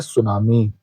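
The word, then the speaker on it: tsunami: अब यहां टी एस यू लिखा है। इसको सु पढ़ते हैं क्योंकि टी इसमें साइलेंट माना जाता है। इसलिए सुनामी पढ़ा जाता है।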